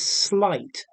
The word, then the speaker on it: sleight: dexterity linguistic skill okay notice the pronunciation slight it's not um clearly not related to the spelling okay so um depth